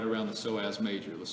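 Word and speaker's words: psoas: Soaz is P S O A S. Soaz major. Sounds like soreass major.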